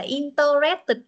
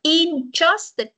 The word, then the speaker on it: interested: in mình đọc cho không phải là intered nếu con đọc inter Tức là nó có bốn âm câu này Mình đọc là interested ch ấ Trời ơi